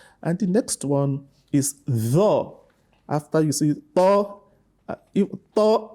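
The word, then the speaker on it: ط: Tho is a heavy letter. The back of the tongue rises up when you pronounce tho, whereas that of ta, it doesn't do so. The tip of your tongue touches the root of your upper teeth.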